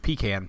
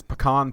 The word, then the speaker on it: pecan: I live in the South, and I grew up calling it pecan pie. Yeah. But I will now refer to it as pecan pie or pecan pie because I've been corrected by too many pretentious people.